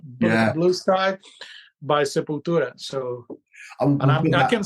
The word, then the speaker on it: Sepultura: But for a heavy metal band like Sepultura was my pronunciation good? That was good enough. Sepultura, yeah, there you go.